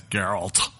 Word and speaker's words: Geralt: I don't like this one Henry Cavill as Geralt that's how you say it by the way